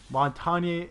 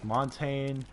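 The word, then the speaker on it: Montagne: just because you know montagnier montagnier is how it's pronounced in France and from what I when I'm told but then at another friend's person say it's Montaigne very confusing but it means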